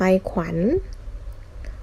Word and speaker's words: ขวัญ: ควาย อีก ต่อ ไป ขวัญ ขอ อะญอ ขวัญ นะ คะ คำ ว่า ขวัญ เนี่ย เวลา สะกด และ จะ ออก เสียง อ่า แม่ กน นะ คะ ขอ อะ อะ